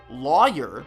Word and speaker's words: lawyer: If you're one of the few who pronounce it lawyer, then there's a high chance you live in this region right here.